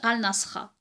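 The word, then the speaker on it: الناصرة: Et là, il le prononce Al-Nasra.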